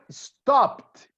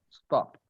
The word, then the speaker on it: stopped: Like here, I stopped. You see, I write with P-E-D. I stopped. But I pronounce simply I stopped.